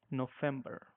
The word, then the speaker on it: November: is November you know V have to be pronounced like f so it's like November and December is December